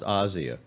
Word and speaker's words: Asia: move books it's breezy it's pronounced Asya sure okay Asya are gentle I'm glad